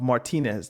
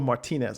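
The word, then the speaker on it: Martínez: There's a there's a British pronunciation of Martinez that goes Martinez. And sometimes I get caught between Luro Martinez or Luro Martinez, but I definitely know that the correct Spanish pronunciation, certainly with those of us with English accents, is Martinez.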